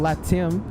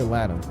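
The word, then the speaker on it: LATAM: I I'm pretty sure it's called latim like it has an accent to it but other people just say laam I've heard people say latim before so I think it's that's how you actually pronounce it to RDU yeah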